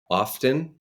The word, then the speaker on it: often: o f t n often Mike often Allan often oh it's often T somebody's dog knew the